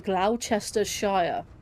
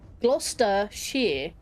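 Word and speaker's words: Gloucestershire: My my like I said, the funniest one I I like is Glowchester Shire. It's Glostere. Glouester Shear. It's literally three syllables. Glouester shear, not glowchester shire, which is five syllables.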